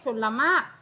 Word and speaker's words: ชลมารค: เป็น ตัว สี ฟ้า คำ แรก ชลมารค ตัว เรือ เรา จะ ไม่ อ่าน ออก เสียง แต่ ถ้า ถ้า เด็ก